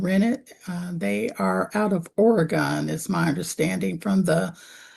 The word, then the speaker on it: Oregon: It's Oregon. He became upset. He started pushing her around. He told her he was going to beat her ass. And She probably mispronounced Oregon and said Oregon.